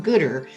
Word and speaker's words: Goodr: engelhardt who is the director of growth at gooder that's spelled g-o-o-d-r and this is a program in